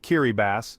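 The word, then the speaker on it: Kiribati: Next, Kiraabati, pronounced Kiribbass, a nation of 33 coral atoles straddling all four hemispheres.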